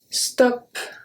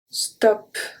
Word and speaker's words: stop: in english as well if there is a p at the end and we have the same word in french we are going to pronounce the p this one now is